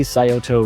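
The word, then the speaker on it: Scioto: and foremost you got the sayoto river that's how you pronounce it let me tell you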